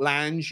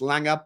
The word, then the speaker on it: Lange: name wrong it's not Lang it's Langer people from Scandinavia have told me you pronounce it with a G rather than a j on the end um and this story